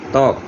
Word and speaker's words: ত্বক: অর্থাৎ শব্দের শুরুতে যখন বফলা থাকবে তখন ওই বফলার উচ্চারণ হবে না।